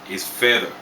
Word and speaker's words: fedha: Lemon green = rangi ya ndimu Lemon is Ndimu Silver = fedha Fedha = Arabic origin = Fedha